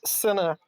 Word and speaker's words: cine: go sign tv yeah it's pronounced sena for cinema i'm canadian it's fine